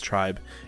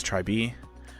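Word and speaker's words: TRI.BE: to form a new girl group um the pronunciation of said group even though it looks like it spells tribe is try b um and they have introduced more members um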